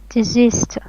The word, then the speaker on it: desist: before or beforehand or in advance okay next desist means please stop doing something excuse me stress